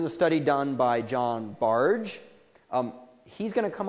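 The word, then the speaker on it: Bargh: on automaticity um and his name is pronounced barge not bar um or bark uh and so what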